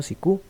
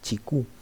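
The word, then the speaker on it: Cicu: ¿Cuál es el criterio de Antonio Sicú en relación a la división del derecho? Bueno, no sé si se pronuncia Sicú, porque creo que es italiano, entonces tal vez debería de pronunciarse Chicú.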